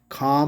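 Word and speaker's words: comb: Hair band, hair spray and काम, काम में बी नहीं, वो साइलेंट है, काम, काम ब नहीं कहना, ठीक है जी।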